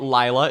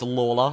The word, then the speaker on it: Laa: his name at least it's not Laya it's Lola let's all learn that